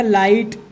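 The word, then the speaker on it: light: हो जाएगा नाइट, हो जाएगा राइट, हो जाएगा लाइट, हो जाएगा माइट, और ये हो जाएगा टाइट। GH को हमेशा साइलेंट रखेंगे और आखिरी वाला पढ़ेंगे।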